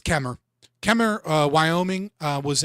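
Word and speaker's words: Kemmerer: This is in uh Chemmer Kemer. That's how you spell it but it's Kemer.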